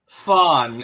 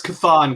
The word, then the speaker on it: Chthon: And it's and I will say that Thon is also okay because you have Cthulhu, right? Right. But also another appropriate way to pronounce Cthulhu is Thulu. So yeah. So I would have let that pass, but it's Chthon, guys. It's Chthon.